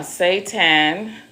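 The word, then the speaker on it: seitan: I didn't mention another one, uh, Satan, which I don't like.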